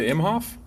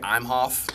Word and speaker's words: Imhof: uh you know because most people say i'm hoth when they pronounce my last name you know he's always pronounced imhoff so then uh colton